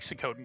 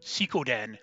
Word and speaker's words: Suikoden: If you like Sakoden games, this is Sakoden. It plays more like it. There are Sakoden titles. Sikoden is, I believe, the correct pronunciation, but fuck that.